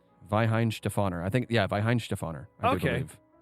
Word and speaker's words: Weihenstephaner: v is it yes W's are pronounced V's in German Vin stefer I think yeah Vin